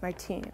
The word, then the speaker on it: Martin: And then Saint Louis and Saint Zélie Martin were her parents, Martine, whatever. But anyway, Martin is how the Americans say it.